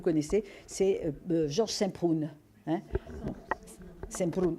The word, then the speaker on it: Semprún: Semprún. Enfin, moi je le prononce à l'espagnol, hein, sans prince si vous voulez.